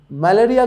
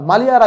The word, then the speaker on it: মালিয়ারা: দিকে আগাব সেটা কি মালেরিয়া গ্রামের আচ্ছা মালিয়ারা গ্রামের একটা গ্রামের নাম মালিয়ারা মালেরিয়া না স্যার ভুলভাল উচ্চারণ করছি মালিয়ারা গ্রামের কৃষক বিমলের